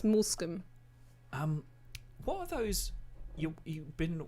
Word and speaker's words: Moulscombe: I think It looks like it's pronounced mouse cum. it Mulsic. I used to think it was Mulsicum. Mulsicum, but it's Moulscombe.